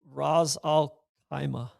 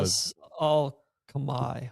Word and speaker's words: Ras Al Khaimah: on the No Laying Up pod about your pronunciation of, is it the Ras Al Khaimah championship? Ras Al Khaimah. Ras Al Khaimah champion. I heard Yeah, that instead of mea the culpa. Ras Al Khamai, which was like I see.